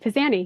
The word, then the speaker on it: Pizanie: Journey So today we're actually joined by pisan pisan did I say it right you did pisani yes pisani okay so it sounds Italian is